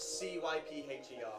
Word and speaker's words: Cypher: No, it's C-Y-P-H-E-R. Oh, I'm spelling that way so I remember it that way. No, Cypher. Yeah. Cypher. Like S-Y. cyber, but with a Because on my Y.